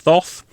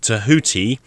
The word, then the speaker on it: Thoth: in ancient egypt thoth now it is not pronounced thoth everyone says thoth it is more like tahuti but it's not pronounced like that either um it's more i